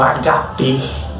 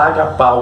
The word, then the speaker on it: ágape: Quando a Bíblia diz que Deus amou ao mundo, esse amor é ágape, que o grego pronuncia mais como HP. Alguns pronunciam agapau, que é o amor incondicional de Deus, inexplicável para o ser humano.